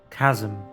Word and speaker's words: chasm: return outside that you may crush the chasm Chasm not Chasm it's a chasm why are